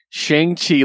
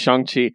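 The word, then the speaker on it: Shang-Chi: day that things change shang chi legend of the 10 rings comes out or chongqi i should say yeah he actually corrected the pronunciation on twitter and i respect that so it's shangqi i'm very excited i'm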